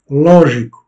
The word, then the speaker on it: lógico: Lógico, logique. Donc, on accentue la première syllabe, lo.